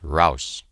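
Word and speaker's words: heraus: out of the trench hraus is the word they use pronounced rouse this was the first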